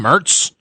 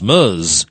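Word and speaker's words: Merz: what's this guy's name Mertz Mertz like Fred Mertz from the from the I love Lucy. Yeah but it's pronounced in a weird way. Oh I who gives a damn. And he comes running in to say it's Muz.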